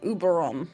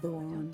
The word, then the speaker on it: Oberon: I need to speak to Deianera Oh, and Uberon. that's not how it's said. I don't Oberon.